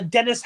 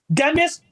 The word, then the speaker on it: Demis: but they wouldn't allow a Dennis uh haseby I got his name wrong but he's Demis has said sorry did I